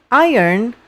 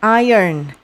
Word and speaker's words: iron: Dan iron the clothes. Ini bacanya bukan iron ya, bukan iron, bukan iron. Iron. Jadi kayak kalau kita tuliskan kayak iron.